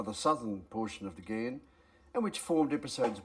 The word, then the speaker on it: Ghan: of the down thing it's pronounced as G as in the Afghan Express and not g as I've been doing I've corrected this embarrassing